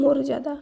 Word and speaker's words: মর্যাদা: মর্যাদা নয়, এর শুদ্ধ উচ্চারণ মর্যাদা।